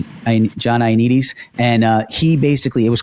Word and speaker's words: Ioannidis: It's John Ioannidis. John Ioannidis.